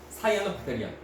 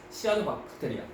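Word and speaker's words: 시아노박테리아: 사이아노 박테리아 아니면은 남조류 또는 뭐 남세균 다 똑같아. 그렇습니까? 또는 이제 사이아노 박테리아 약간 이제 옛날식 발음을 하면 시아노 박테리아 다 똑같아요, 맞죠?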